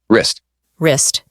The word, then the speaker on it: wrist: different meanings exactly and let's not forget about silent letters words like knife and wrist often trip people up here's a fun pronunciation